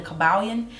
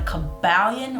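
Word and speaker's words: Kybalion: three initiates in the cabalian and that is spelled k-y-b-a-l-l-i-o-n not the caballon or the caballin um i get saying pronouncing those words mixed up but it's kyb okay so we're aware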